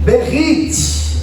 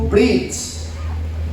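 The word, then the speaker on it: בְּרִית: A palavra que aparece se chama Berit, ou ela vai ser abreviada e vai ser pronunciada como Brit.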